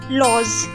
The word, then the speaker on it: lolz: Next we have लॉज, LOLZ। इसका L silent होगा, it's pronounced as लॉज।